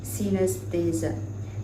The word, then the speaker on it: synesthesia: If you have experiences like this, you may be one of the special people with an unusual sensory condition called synesthesia, pronounced synesthesia.